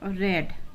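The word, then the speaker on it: read: अब यहाँ पे इसको उच्चारण हम रीड करते हैं प्रेजेंट टेंस में, लेकिन इस रीड की तीनों फॉर्म एक ही होती हैं। तो जब हम सेकंड फॉर्म के रूप में पास्ट इंडेफिनिट में या थर्ड फॉर्म में जब यूज करते हैं तो उसका उच्चारण हम रीड नहीं करा करते, अब हम रेड करा करते हैं।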